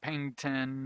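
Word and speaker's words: Paignton: And then over here we're going to do Pengton. I really should change the name of that town so I don't keep mispronouncing it.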